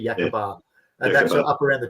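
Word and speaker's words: Yacaaba: northern headland, you've got Yakabar. So I think you pronounce it Yakaba or something like that, but it's actually Yakabar.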